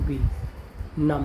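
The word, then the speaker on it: bomb: एक वर्ड है एन यू एम बी नम। Num means चेतना शून्य और एक वर्ड है बी ओ एम बी। ये वर्ड आपने सुना होगा। ये होता है बोन। यहां पर भी बी साइलेंट है।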